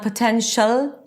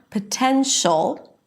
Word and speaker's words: potential: And don't forget the dark l. It's not potential. Very light l just produced with the tip of the tongue touching the upper pallet. No, you have to engage the back of the tongue to create that really dark sound.